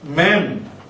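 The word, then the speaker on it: מ: 다음 맴은 우리말 음가 미음과 똑같은 음가입니다.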